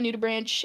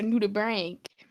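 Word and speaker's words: nudibranch: Um I'm basically orange and I'm a nuda branch aka or I guess a nuda brank as I recently discovered as a proper pronunciation.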